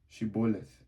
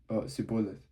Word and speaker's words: Shibboleth: When he said no, they said to him, Then say Shibboleth. And he said Sibboleth, for he could not pronounce it right.